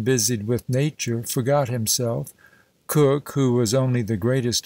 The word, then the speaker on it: Coke: sir edward cook sir edward coke or cook as now pronounced and occasionally so written